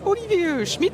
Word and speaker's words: Olivier Schmidt: la chance de croiser Olivier Schmidt si je me trompe pas voilà c'est la prononciation est-ce que tu pourrais te présenter pour ceux qui ne te connaîtrai pas parce que je vais pas te le cacher que je regarde toutes tes vidéos et je suis très heureux de te rencontrer aujourd'hui euh déjà tu as bien prononcé mon nom donc merci beaucoup je